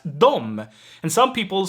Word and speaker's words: de: pronouns d and them they are most typically pronounced both as dom and some people spell